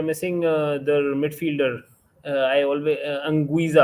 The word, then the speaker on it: Anguissa: I think if Insigne is missing and they're missing their midfielder, I always Anguissa, I think, right? That's how you pronounce his name. Zambo Anguissa, yeah, correct.